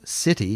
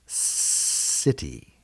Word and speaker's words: city: we call it a soft sound and that makes it sound like an s so city here even though it's spelt with a c is s city city but uh there's also